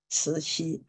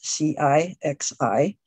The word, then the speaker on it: Cixi: mainland way, which is C-I-X-I. C means ci, so it's a ci, and the X means xi, so it's xi.